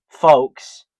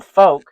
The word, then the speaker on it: Volk: Um well folk came from bulk with a V. And we just took that V, then we put a F in there, made folk, folk, folk. It rhymes. It sounds the same.